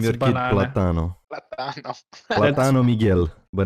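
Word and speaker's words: plátano: Platano.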